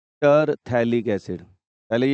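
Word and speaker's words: phthalic: है बेटा हेलिक acid pH यहां पर साइलेंट हो जाता है और इसका नाम क्या हो जाता है थैलिक्स पीएच साइलेंट है यहां पे ठीक है ना टी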